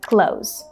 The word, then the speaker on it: clothes: have to speak fast, you can say close, just like the word close the door, for example, the same pronunciation.